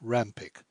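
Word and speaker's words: Pyke: voice abrahan Heracles and Jos Rome Pike pronounced Ram pick these member accustomed to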